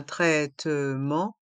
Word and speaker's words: traitement: homéopathique un traitement homéopathique dans le mot traitement le a et le i se prononc e r et le E et le N à la fin du mot traitement se prononce en traitement le T est mué homéopathique les deux h